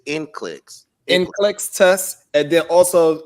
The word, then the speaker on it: NCLEX: How you pronounce it? It's NCLEX.